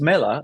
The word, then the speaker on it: Mela: of homage for Apple because Mela in Italian is apple. So they thought something Oh, like apple. Yeah, yeah, Mela. It's actually Mela. That's how they say it.